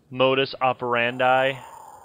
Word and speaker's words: modus operandi: It's actually pronounced modus operandi.